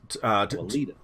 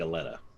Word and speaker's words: Alita: Alita's going to Alita. Sorry. I've been saying Aleta.